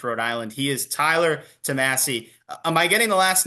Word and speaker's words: Tomassi: in West Greenwich Rhode Island he is Tyler tamasi am I getting the last name right I've heard it pronounced both ways yeah tamasi yeah okay Tyler tomasi everyone says it completely